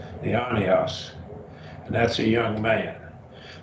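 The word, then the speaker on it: αἰώνιος: Raise the accent on the iota. Say it's accented. Eonios.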